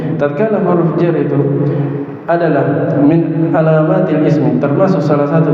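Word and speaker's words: من: Mim cara bacanya dengan dikasr mimnya. Kalau di fathah man lain-lain yang di sini min di kasr mimnya.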